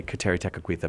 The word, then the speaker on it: Kateri Tekakwitha: and also we'll go to the tomb of Kateri Tekakwitha. Did I say that correctly? You did. I'm really impressed with how you say Kateri Tekakwitha, because I always am super proud that I